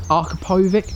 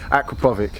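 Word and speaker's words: Akrapovič: And you said it was is it an Arkapovic? Did I say that correct? Well, I say it wrong, so anyone that's not watching this in England will probably put in the comments that I'm an idiot, but yeah, Aquapovic. Aquapovic, okay, it's our accents, we're from Essex, we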